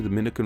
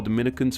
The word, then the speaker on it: Dominica: With Dominicans from the Dominican Republic, the me syllable is stressed, while Dominicans from Dominica, the ni syllable is stressed, Dominica and Dominica respectively.